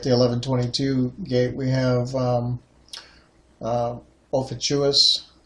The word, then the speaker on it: Ophiuchus: 11:22 gate we have all fatuous as I like to say there was other pronunciations he or Ophiuchus sure as the gatekeeper